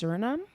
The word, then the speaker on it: Suriname: Another person from, I believe the country is pronounced Suriname. She was, or he or she was like, I'm from Suriname, I understand everything this man said.